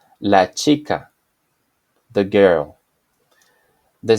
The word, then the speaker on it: chica: a sound as found in the word La chica La chica the girl the sound corresponding to J or